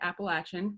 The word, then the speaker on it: Appalachian: And if you don't pronounce it Appalachian, Randy's happy to give you a tutorial.